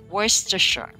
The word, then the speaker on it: Worcestershire: this one more time worcestershire one more time worse to sure okay good job so